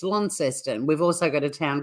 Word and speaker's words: Launceston: My pronunciations are all over the place. Yeah, it's hard. I mean, people say Launceston, but if you live in Tassie, it's Launceston.